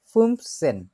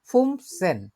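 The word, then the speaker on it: fünfzehn: 11কে বলে হচ্ছে এলফ, 12কে বলে সোলফ, 13কে বলে দ্রাইসেন, 14কে বলে ফিয়ারসেন, 15কে বলে ফুমসেন।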